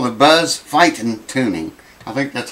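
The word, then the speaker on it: Feiten: they call the buzz fighting tuning? I think that's how they pronounce it. F-E-I-T-E-N or something like that. F-E-I-T-E-N. Fight. It's pronounced fighting, I think, but it's spelled funky.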